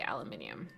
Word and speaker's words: aluminium: vibing without umbrella - how do you say aluminium aluminium I are pronounce it aluminum but that merci Australians say aluminium okay canal Kona Renner